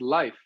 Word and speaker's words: Leif: first name uh yeah I pronounce it Leaf because I've been I've born and raised in America and usually people read it that way but um sometimes I'll get corrected by Europeans because in in Sweden they pronounce it Leif and then in in Norway it's life so it really is is contextual but I've always been known as leaf and I'm a horticulturist